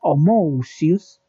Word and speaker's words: Homoousios: es algo parecido a lo que voy a pronunciar a continuación. Homoousios.